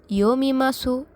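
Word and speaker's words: 読みます: আমি মানে ওয়াতাশি, বই মানে হন, পড়ি মানে ইয়োমিমাসু। তাহলে কি দাঁড়াচ্ছে? ওয়াতাশি ওয়া হন ও ইয়োমিমাসু। এখানে জাপানিজরা কোনো কিছু করা বলতে মাস বোঝায়। এখানে সু উচ্চারণটা হবে না, অত্যন্ত হালকাভাবে হবে।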